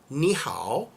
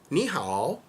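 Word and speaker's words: 你好: 你好, because there's a tone on every syllable in Chinese. So the first one is flat, 你, and the next one is this tone, 好, 你好, which means you good, which means hello.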